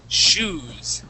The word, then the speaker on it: shoes: so class the uh the O the o e here in the middle makes an ooh sound okay the word would not be show is all right the word is shoes okay sh exactly just